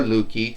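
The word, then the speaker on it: Loki: It's Luke Guy. Or Lukey, however you want to say it.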